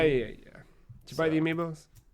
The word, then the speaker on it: amiibo: did you buy the amiibos not yet I don't know why I just said amiibos that's not the proper pronunciation Matt amiibo is the plural of am B get that